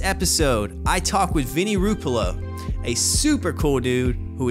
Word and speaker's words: Rupolo: Vinny Ruppolo, welcome to the See-Through Podcast. What's up, dude? Long time coming, bro. One of those pronunciations, I got it. I got it down. Yeah, you got it. Ruppolo, you got it.